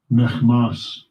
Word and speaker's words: Michmash: And they came up and pitched in Michmash. I really kind of want to see how that's pronounced. 2,000 praise for 2,000 more salt in Michmash. Strong's H 4363. Mechmas.